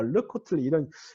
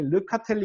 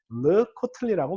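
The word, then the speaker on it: לְקָטְלִי: 전치사와 함께 쓰이는 경우가 이 경우가 르코틀리 이걸 갖다가 사람들이 많이 르카텔리 이렇게 발음하는 경우들이 꽤 많아요. 그래서 제가 이런 경우들에 고쳐줘요. 르코틀리라고 발음하셔야 됩니다.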